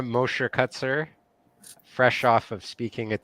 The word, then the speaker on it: Mosher-Kuczer: Mosher-Kuczer, but everyone does.